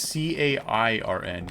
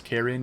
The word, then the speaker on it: cairn: Karen and cairn. But one is a diphthong, single syllable, and the other one is, you know, 2 syllables.